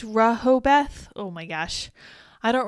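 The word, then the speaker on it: Rehoboth: awesome too awesome too Rojo both is pronounced Rehobeth oh my gosh I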